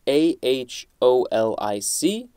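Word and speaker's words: -aholic: norman mailer next we have a suffix dash a h o l i c or dash o h o l i c uh you could pronounce that aholic this is a noun and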